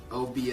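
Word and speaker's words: Obeah: Obie a man.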